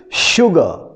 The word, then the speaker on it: sugar: Serve them a little sugar. This is also the pronunciation is SH is not here, but you pronounce SH sound must come.